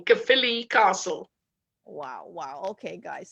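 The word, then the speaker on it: Caerphilly: us the name of your castle it's called kaphili castle which is spelled c a e r p h i l l y k philly castle wow wow okay guys so we're all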